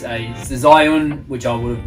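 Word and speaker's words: Zhiyun: It's a Zion, which I would have mispronounced, Weeble S.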